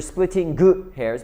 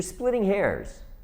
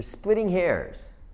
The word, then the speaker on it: splitting hairs: It's not you're splitting hairs, but it's you're splitting hairs. You're splitting hairs.